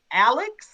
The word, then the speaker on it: AALAX: that so what I want to say is I'm so grateful again now that AALAX is actually pronounced Alex.